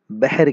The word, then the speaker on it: بحر: ٹھیک ہے، بحر عربی زبان کا لفظ ہے، اسے اردو تلفظ میں اگر ہم دیکھیں تو ہم اسے بحر کہتے ہیں، تھوڑا سا اسے مجہول ادا کرتے ہیں.